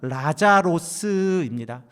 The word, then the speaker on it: 라자로스: 그리고 이 엘레아자르라고 하는 히브리식 발음을 헬라식으로 바꾸면 라자로스입니다.